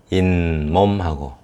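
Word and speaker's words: 잇몸: 이 몸인데 인몸하고 미음 앞에서 몸에 미음이 있죠. 이렇게 미음 앞에서 니은 발음이 겹쳐날 때, 또 냇물도 마찬가지입니다.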